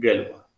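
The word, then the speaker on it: Galois: इसमें एक French mathematician आते हैं, और ये जो भी लिखा जाए, लेकिन जब भी प्रोनाउंसिएशन होगा तो आप ये कहेंगे, गैलोवा।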